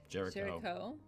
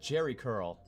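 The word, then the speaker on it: Géricault: Jerry Curl. Jerry Curl. Oh, I did mispronounce it. It's actually a really good phonetics approach Jerry there. Curl, yes.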